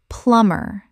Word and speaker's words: plumber: Correct pronunciation. Plumber. The B is completely silent. Two syllables only.